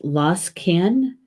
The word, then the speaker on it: Losgann: frog is in English and it's lost can lost can is the Gaelic it's LLS GaN doesn't look like it at all does it lost can lost can is the